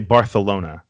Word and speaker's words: Barcelona: spain don't you no no you're supposed to say barthelona it's with like a lift you're a little safe